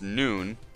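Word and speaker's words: Nunh: Breeding males, pronounced noon, and all others, the tia, pronounced t.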